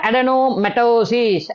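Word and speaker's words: adenomatosis: அடெனோமெட்டோசிஸ்.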